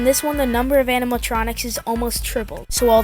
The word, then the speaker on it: animatronics: Just a random fun fact, as a kid I used to think that animatronics was like pronounced animaltronic because Five Nights at Freddy's and they're animals because yeah.